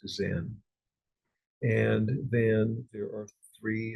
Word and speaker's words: Zen: In Japan, it was pronounced Zen.